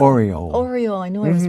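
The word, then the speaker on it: Aureole: Your signature dance is probably aerial. I hope I'm pronouncing that correctly. Oriole.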